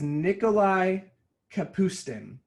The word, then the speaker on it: Nikolai Kapustin: Okay, this is Nikolai Kapustin. I pronounced it right.